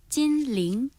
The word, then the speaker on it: 찐링: 찐링 예, 중국 중국어 발음이 찐링 다른 거예요? 일성 이성 찐링이에요.